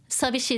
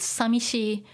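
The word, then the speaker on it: さびしい: know saying lonely uh sabishi is more like official and traditional and it's actually preferred heard um in broadcasting as well they don't you know use samishi uh for like the news and things like that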